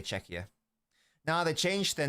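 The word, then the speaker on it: Czechia: Let's get an official pronunciation. It's either it's with a K, not a CH in the middle. Can English speakers handle that?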